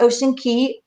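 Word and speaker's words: Ocean Cay: about that yes so it's um it's actually pronounced ocean key so ms msu marine reserve um and key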